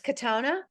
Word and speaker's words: Kotona: So it's Kotona. Kotona Lynn, yeah, exactly the way it's spelled.